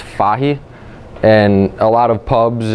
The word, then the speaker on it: Fahey: was actually spell fhy and pronounced foggy and a lot of